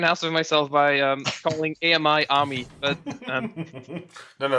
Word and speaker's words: AMI: It's pronounced Ami.